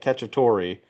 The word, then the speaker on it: Cacciapaglia: It's like, the beginning's like Cacciatore and then silent G at the end, Paglia. So, Yeah.